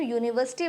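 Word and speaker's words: university: Sound की बात करें, तो जब यूनिवर्सिटी बोलते हैं तो साउंड किसका प्रोनाउंस हो रहा है? य का साउंड प्रोनाउंस हो रहा है, जो कि य हमारा क्या है? वो कॉन्सोनेंट में हमारा या हमारा कॉन्सोनेंट में आता है, यूनिवर्सिटी।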